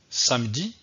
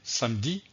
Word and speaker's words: samedi: que ici le nom le mot samedi un contient deux syllabes pas ce que je vais dire samedi samedi le mot à